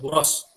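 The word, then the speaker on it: Borås: Ole Engstrom, dan yang mewakili Buros University, tulisannya Boras ya, tapi kita bacanya Buros, yang terletak di Swedia ya.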